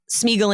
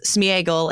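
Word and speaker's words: Sméagol: pulls from is that that vowel is actually supposed to get its own uh syllable its own pronunciation so it's not smeagle and deagle her book candidates Smeagol and Diego is the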